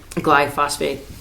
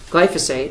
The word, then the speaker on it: glyphosate: The folure application of glyophosphate glyphosphate phosate glyphosphate glyphosate glyphosphate will be administeredly no I don't want to pronounce it that way will be administered along with a surfactant as required glyphosate has been